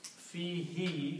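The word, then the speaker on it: فيه: When you read these together, this who is pronounced as he. Just for the reason of tajweed, so becomes fihi.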